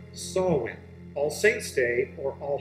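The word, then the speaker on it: Samhain: with a holiday an ancient celtic holiday it's pronounced sawwin all saints day or all hallows eve is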